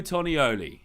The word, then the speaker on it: Tonioli: an option that's cool Tony Oli is that right let me get it slower Tony only Bruno Tonioli so there you go apparently that's the new judge so there he is and apparently that's pronounced right I still doubt it